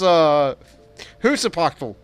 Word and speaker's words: Huitzilopochtli: Silo said, it's Huitzilopochtli. And Uriel says, I can pronounce that.